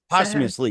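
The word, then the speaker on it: posthumously: you say that yeah what's that PO humously POS humously yes that's the ously right or or the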